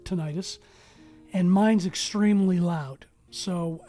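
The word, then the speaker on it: tinnitus: in the affected ear known as tentis tentis or tenius I pronounce it ttis and mine's Extremely Loud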